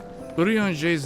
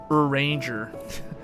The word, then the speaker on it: Urianger: Urianger's name sounds like is that like a French name or something? I remember when I first read that name, I pronounced that name Uranger. Uranger. Instead of Urianger.